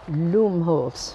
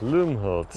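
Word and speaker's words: Lumholtz: cemetery Carl LOM Holz I suppose it's pronounced something like that Loom Holtz Loom Holtz yes explorer and scientist I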